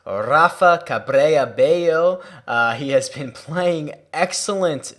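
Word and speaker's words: Rafa Cabrera Bello: to say his name his name correctly it's rafa cabre abayo he has been playing excellent this year oh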